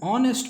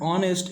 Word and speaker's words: honest: Example, an honor, an MLA, an SDM, an honest man. The H at the beginning of honor and honest is silent.